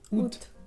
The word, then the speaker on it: août: También hay casos muy particulares, por ejemplo, el mes de agosto, que se dice août. Se dice août, la A al principio es muda, así es.